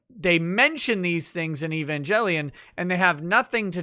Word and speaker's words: Evangelion: and you know i you cannot convince me that it's a hard g evangelion because it's based off of evangelize not evangelize i don't i won't take a hard g i it's a soft g evangelion i don't i don't